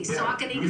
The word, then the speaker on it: Saucony: say the brewery so it's a hard sea Saucony Creek and we gotta